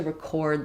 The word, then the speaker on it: record: In record, I'm using first syllable stress. My letter E is going to have the a sound like in red. Record. And notice that my second syllable changes as well. Now it's going to be reduced and it's going to be recorded. I'm going to lose my or that I had in the clear syllable.